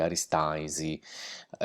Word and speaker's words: Aristanis: Vediamo scritto Aristanis, la pronuncia in sardo, la nostra pronuncia di Oristano, per il nome stesso è Aristaisi. Come vedremo in questo breve testo che vi presenterò, spesso le N all'interno della parola per noi spariscono.